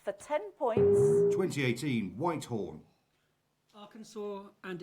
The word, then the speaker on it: Arkansas: The names of 2 US states end in a letter S that is not pronounced as an S. For 10 points. 2018, Whitehorn. Arkansas and Illinois.